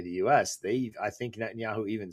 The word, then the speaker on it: Netanyahu: I pronounce I can't pronounce his name but help me out here. Netanyahu.